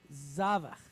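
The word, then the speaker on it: זבח: Zavach. Remember, this is long, right? Long duration, short duration. Zavach. All right? And the meteg is at the front, so we know we're going to stress that syllable, right?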